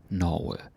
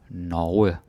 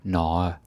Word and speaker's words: Norge: Norge. Right? Don't say Norge or Norge. Right? Like you have to pronounce the G. Norge.